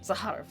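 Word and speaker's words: Zakharov: which creates them academician procer zahar nonlinear genetics zahar okay I have to remember that's how it's pronounce a har uh home production complete we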